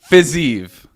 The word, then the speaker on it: Fiziev: I mean, Fiziev.